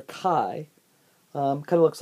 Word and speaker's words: chi: like this this is the capital Greek letter Chi kind of looks like a big capital italic X it spelled c-h-i that pronounce it Chi and we're gonna call it